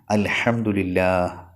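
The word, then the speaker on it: الحمد لله: പലതവണ പറയുന്ന ഒരു വാക്കാണ് അൽഹംദുലില്ലാഹ് എന്നുള്ളത് അൽഹംദുലില്ലാഹ് ഹാ വെളിവാകണം അവസാനം അത് പറഞ്ഞ് പറഞ്ഞ് പിന്നീട് അൽഹംദുലില്ലാഹ് അൽഹംദുലില്ലാഹ് ഹംസ ഇല്ലാതെ പറയുന്ന രൂപത്തിലേക്ക് എത്തിയിട്ടുണ്ട് അൽഹംദുലില്ലാഹ് അൽഹംദുലില്ലാഹ് എന്ന് പക്ഷേ അത് നിസ്കാരത്തിൽ ആകുമ്പോൾ വലിയ പിഴവ് തന്നെയാണ് അതുകൊണ്ടുതന്നെ ഹംസ ഒഴിവാക്കിയിട്ടുള്ള ഉച്ചാരണം അത് തെറ്റാണ് അത് ശ്രദ്ധിക്കുക തന്നെ വേണം തൊണ്ടയുടെ അടിഭാഗത്തുനിന്നാണല്ലോ ഹംസ ഉച്ചരിക്കേണ്ടത്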